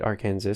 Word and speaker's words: Arkansas: which by the way is spelled like our kansas but they don't call it arkansas they call it arkansas but they call arkansas people arkansans true story he